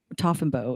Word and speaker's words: Taughinbaugh: Toffenbow is, I believe, how it's pronounced.